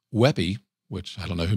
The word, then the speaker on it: WebP: This one, it's pronounced Weppy, which I don't know who made that up, but I do agree with that.